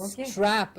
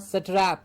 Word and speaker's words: strap: Yes, and strap and not satrap.